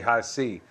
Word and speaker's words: HISEA: spelled h i EA I was pronouncing them high in the past but it's actually high C and um these boots